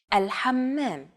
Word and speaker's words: الحمام: One trick to produce this sound is to push your tongue as far back in your mouth as you can and then say the word hot. It should help you to pronounce this sound.